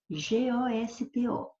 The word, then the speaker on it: gosto: Porque quando você fala esta primeira aqui, gosto, você fala com o primeiro O, tem som fechado, gosto, é sinônimo de sabor. E gosto é substantivo. Agora, aqui não é gosto, aqui é gosto. Aqui a pronúncia do primeiro O é uma pronúncia aberta.